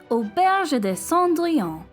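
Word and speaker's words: auberge: cinderella's inn in 1992 pronounced in french as oberge and now we are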